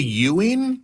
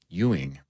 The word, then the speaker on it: Ewing: You say Euing? Why' he yell? As in like as in Patrick Euing spelled the same way.